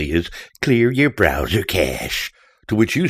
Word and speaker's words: cache: drive by the way it's pronounced cash like money not cache I have to chuckle